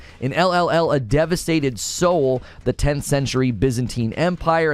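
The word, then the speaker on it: Seoul: foundation and it's based on a real location Soul it's spelled s-e-o-u-l Soul it's based on a real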